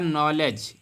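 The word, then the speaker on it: knowledge: सभी को पता होगी नॉलेज नॉलेज में के के बाद एन आया है तो कानो कानो नहीं पढ़ने हैं बल्कि 9 पढ़ने हैं नॉलेज कुन नॉलेज नहीं पढ़ने हैं है ना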